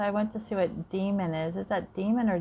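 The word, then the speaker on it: daemon: a normal computer program yep that's how you say it demon it says a programmer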